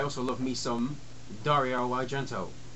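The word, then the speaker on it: Argento: love me some Dario agento which before I said it out loud I always pronounced it I always thought of it as Argentino but um I know better um this is one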